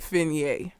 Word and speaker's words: Fine: fer like being fine her name is fine but she pronounces it fer that's what it was